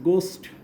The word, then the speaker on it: ghost: এখন দেখো GHOST গোস্ট, তোমরা ঘ উচ্চারণ করো, এটা গ উচ্চারণ হয়।